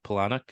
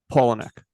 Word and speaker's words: Palahniuk: He told me a really funny story about Chuck Palahniuk. Is that how you pronounce it? Palahniuk. Palahniuk.